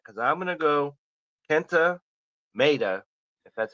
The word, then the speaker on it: Maeda: I take that back because I'm gonna go Kenta Maeda, if that's how you pronounce his name. Maeda, yeah. Maeda.